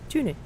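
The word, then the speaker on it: Tønder: We're starting in Denmark well, it looks like it's spelled Tonder, but they say Tune.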